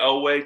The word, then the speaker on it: Oweh: But Odafe, Oweh to the Ravens. Correct me if I'm wrong, Greg. That's the correct pronunciation.